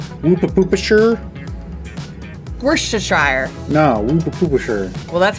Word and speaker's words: Worcestershire: How would you pronounce Woopa-Poopa-Shire? Worcestershire.